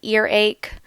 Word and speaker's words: earache: You can also have an earache, a stomach ache, and a toothache. Notice that in these words, the stress is on the first syllable. Earache, stomach ache, toothache.